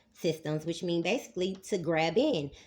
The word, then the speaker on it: Graben: which mean basically to grab in. The word is spelled Graben, but I'm going to use it as two words, as in Grabin system. Grab in.